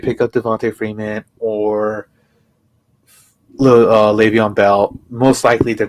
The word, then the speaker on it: Le'Veon Bell: can't say his name not levar le'veon bell sorry belle is coming